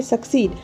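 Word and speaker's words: succeed: ऐसा क्यों करना चाहिए एस U double C double आई दी इसका प्रोनाउंस होता है सकसीड और इसका हिंदी मतलब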